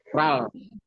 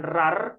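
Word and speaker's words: 랄: misalkan ada hurufnya begini ni r a Ditutup sama R lagi dibasanya apa ral ral bukan bukan rar bukan Lal tapi rar eh sori ral Kok beda karena nama hurufnya real di atas R di bawah l gitu Al nih bacanya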